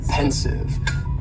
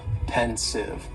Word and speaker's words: pensive: were friends next is pensive and the pronunciation very easy just two syllables and the stresses on that first syllable pensive pensive now if somebody